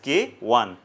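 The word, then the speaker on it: K_I: written as k i so you have to pronounce that as k 1 why as i said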